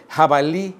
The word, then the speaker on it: jabalí: Jabalí es el cochino de monte, que muchos yucatecos pronuncian con la I glotalizada final como jabalí, ¿no?